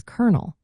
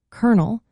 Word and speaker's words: colonel: Despite the spelling change, the pronunciation stayed the same as colonel which sounds like the nut.